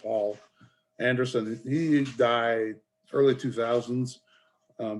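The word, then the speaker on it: Poul Anderson: word it's failed p-o-u-l but it's pronounced paul anderson he died early 2000's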